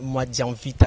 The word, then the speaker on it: Mwadianvita: du docteur Noël Tchani Mwadianvita, à qui je dis bonjour, docteur. Bonjour, merci de me recevoir sur votre plateau. Moi, je crois que je n'ai pas massacré votre nom. Hein? Vous l'avez prononcé correctement.